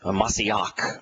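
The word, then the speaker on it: מָשִׁיחַ: and Psalms where uh masiak which is the the Hebrew pronunciation is used as a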